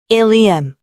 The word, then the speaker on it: ilium: 그 대표적인 예로는 ilium, ilium, 첫 번째 일리움은 장골, 그리고 두 번째 일리움은 회장. 장골과 회장의 발음은 일리움으로 동일하나 장골은 골반의 일부분이고 회장은 소장의 한 파트로 스펠링에 따라 지칭하는 신체 기관이 다릅니다.